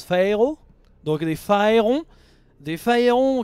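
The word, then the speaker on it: pharaoh: des phérons sachant que je rappelle que Pharaon en anglais ça se prononce phéo donc les phérons des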